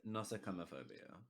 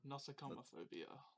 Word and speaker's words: nosocomophobia: Nosocomophobia. nosocomophobia? No, Interesting. nosocomophobia. That's how it's pronounced. Nosocomophobia.